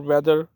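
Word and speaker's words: weather: और वेदर, यहाँ पे भी H जो है वो साइलेंट है।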